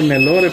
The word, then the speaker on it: Nelore: es directamente para carne yo le escribo nelore pero se pronuncia nelor Sí esta es una